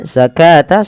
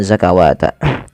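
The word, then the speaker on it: الزكاة: Kemudian zakata sama dengan ini jangan dibaca dengan zakawata.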